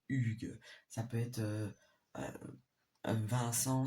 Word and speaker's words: Hugues: Parce que Hugues, ça commence pas par U, mais quand on l'écrit, mais quand on le dit, ça fait Hugues.